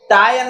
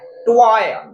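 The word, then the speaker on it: toy: टाय नहीं है, ट्वाय, ट्वाय है, ट्वाय, प्रोनाउंसिएट आपको अच्छे से करना होगा।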